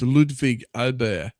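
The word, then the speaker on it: Ludvig Åberg: But, so let's hope actually I saw a post of him showing us how to pronounce his name. It's Ludwig Ober.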